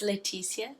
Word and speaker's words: Leticia: It's a Latin based name, so it's Leticia. That's how it's pronounced.